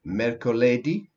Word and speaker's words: mercoledì: have martedì, martedì, then mercoledì. mercoledì. The accent always Mercoledì. goes on the The very good. accent is on the, yes, that's right, because the I has got an accent on it.